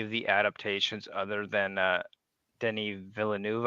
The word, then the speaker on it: Denis Villeneuve: I'm probably pronouncing that wrong. I always do. No, I may be actually, you did it Canadian, right. but I still can't talk French Canadian. No, you were spot on. That's how I've heard it's supposed to be pronounced.